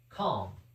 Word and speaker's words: calm: Calm, we don't pronounce the L in calm, so that leaves us K-A-M as well.